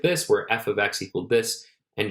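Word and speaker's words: f(x): Remember that you say it like this. F ofx, not f* x. That's a dot there for multiplication. So it's not f bracket x like a multiplication. It's actually a notation f ofx.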